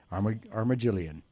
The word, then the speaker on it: Armagelion: might be interested in uh the band uh Arma Jillian you don't even want to know how long it took me to try and pronounce that thank you armagillian uh and we'll be playing we'll be debuting